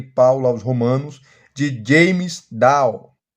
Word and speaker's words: Dunn: aos romanos de James Down muita gente fala Dan mas a pronúncia correta é Down James Down ele faleceu